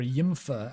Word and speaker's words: YMFAH: Yeah, YMFAH, or Yimfa, as I believe it's canonically pronounced.